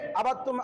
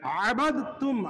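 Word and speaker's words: عبدتم: আবাত্তুম এখানে হয়ে যাবে আবাতুম আবাতুম আবাতুম এটা ভুল সঠিকটা হবে সহিটা হবে আবাদতুম আবাত্তুম আবাত্তুম ওয়ালা এখানে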